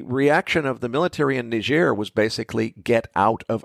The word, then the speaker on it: Niger: ought to be pronounced Niger well that's that's a french-speaking place so it's pronounced ner and uh their situation